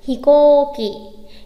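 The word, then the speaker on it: ひこうき: Thực tế chỉ có ở đâu thôi chữ cô thôi nên phải đọc đúng là gì nhỉ? Hikoki.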